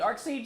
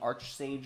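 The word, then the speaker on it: Archsage: um yeah so the arc Sage is Gauntlet The Arc Sage is how they pronounce it so I'm going with arcsage even though I've been saying archstage for uh uh when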